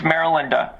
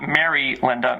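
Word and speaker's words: Marilinda: It's Maril Linda with It's all one name. All one name by the way. Not Mary Linda. Maril Linda.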